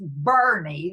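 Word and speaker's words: Boerne: Texas b o e r n e it's pronounced Bernie the Texas accent and so it's in a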